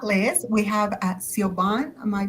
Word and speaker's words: Siobhan: And last, but definitely not least, we have uh Siobhan. Am I pronouncing that correctly? Siobhan.